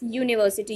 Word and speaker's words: university: So look at this. University, U. This is vowel. But when we pronounce it, university, U, and it has a sound U. Yes, this is not a vowel sound, this is consonant sound. So, a university, not an university.